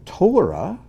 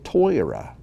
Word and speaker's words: Torah: gracious gracious instead of saying torah which is sephardic they'll say toyora which is ashkenazic with maybe a little new york brooklyn accent added in so again don't